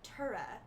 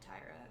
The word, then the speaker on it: Tyra: Like there should be an H in there or something, because it's more like Tura would be is how I envision it pronounced. But I realize I'm just gonna be called Tyra for a while.